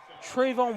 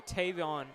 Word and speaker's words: Tavion: It's going to be intercepted there by number 6, Trayvon Williamson. That's actually Tavion Williamson, Tristan, with the interception. Excuse me for mispronouncing the name.